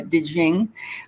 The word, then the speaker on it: Te Ching: d a o uh de jing but um it's d a o and then small t e and then capital c h i n g it was written some